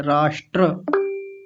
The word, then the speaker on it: राष्ट्र: हाँ ठीक है, राष्ट्र, इसको थोड़ा ठीक कर लेंगे, राष्ट्र।